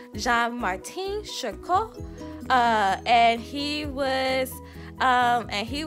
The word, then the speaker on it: Jean-Martin Charcot: me but I think is his name is pronounced jean-martin charcot and he was and he was the person